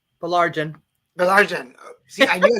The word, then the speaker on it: Baillargeon: So I'm going to go ahead and start and say, Baillargeon. Baillargeon.